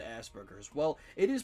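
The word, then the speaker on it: Asperger's: So, I thought I would get in trouble if I said Asberers. Well, it is pronounced assberers.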